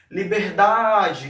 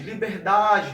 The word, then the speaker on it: liberdade: Então, por exemplo, quando você diz assim, ó, liberdade, liberdade, repara que essa palavra dá, essa sílaba dá, desculpa, aí eu prolongo um pouco mais, ó, liberdade, liberdade, esse dá fica um pouco mais esticado, então a esse dá